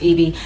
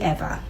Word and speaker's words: Eva: I know it is spelled and sounds like it should be pronounced Eevee, but it's actually ever as in forever.